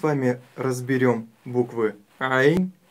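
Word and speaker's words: عين: Буква Айн – мягкая горловая буква. А буква Гайн – твердая горловая. И при ее произношении мы чувствуем характерный хрип. Х, Гайн, Гайн. А у буквы Айн она отсутствует.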